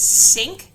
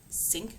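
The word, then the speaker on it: CINC: you will see on a regular basis is syn c i n c it is actually pronounced like syn like the kitchen syn but those are the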